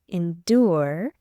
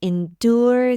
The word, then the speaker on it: endure: the unstressed syllable however in the word endure du is part of the stressed syllable endure and is pronounced as do repeat after me how could anyone endure the procedure well done